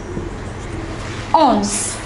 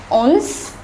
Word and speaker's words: onze: The number 11 is ounce. Look at the pronunciation carefully.